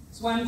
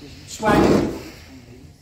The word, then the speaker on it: Zuan: Après, vous avez le deuxième, c'est Swan Swan. Donc là, c'est l'eau. Ça s'écrit Z-U-A-N. Swan.